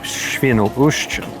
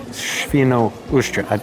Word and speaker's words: Świnoujście: Szczecin and finally into the Baltic Sea at Świnoujście, which is not as easy to say as I made it sound, obviously. Świnoujście.